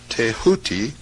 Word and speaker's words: Thoth: scribe of the gods Thoth, pronounced Tehooti, the so-called emerald tablet